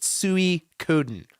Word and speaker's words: Suikoden: DJ and DJ just It's phonetically exactly how Phil is saying it. Suikoden, right? Axe Grinder's correct. King Be Cruel's correct. Suikoden.